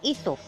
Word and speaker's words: Aesop: Aesop was a person from Greek country. He was a good storyteller. His name was Aesop.